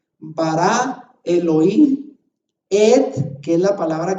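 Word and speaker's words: אלהים: En esas 7 palabras dice Bereshit, Bara, Elohim, Et, que es la palabra que no traduce, et ha-chamayim beet ha-aretz. Así se pronuncia eso en hebreo. Pero se fija usted que la puna, berechit, bara Elohim, son palabra 1, 2, 3.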